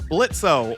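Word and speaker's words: Blitzø: the main cast of blitzo or Blitz but the O is silent as you may already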